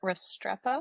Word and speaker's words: Restrepo: Well, we talked about he got his wide receiver, Xavier Restrepo.